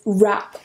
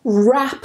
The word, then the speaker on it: wrap: first phrasal verb is wrap up wrap up that word that w is silent we don't pronounce it if you struggle with